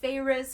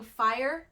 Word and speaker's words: Feyre: me just tell you if they did not put the pronunciation in the book for how you're supposed to say feyre's name i would have been saying fire the whole time so good call on